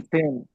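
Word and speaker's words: zehn: है सेन सेन सेन सेन एस की आवाज आएगी सेन सेन या इसको अगर आपने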